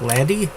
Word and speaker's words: laddie: out of Lottie right laddie it's how you say it relating like the Scottish like laddie and not like to